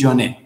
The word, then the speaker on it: Joinet: o Louis Joanet o Joinet, pero en francés dicen que se pronuncia Louis Joanet.